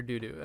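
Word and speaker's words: Dudu: Doodoo.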